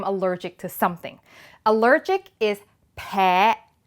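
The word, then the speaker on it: แพ: Allergic is peh, peh.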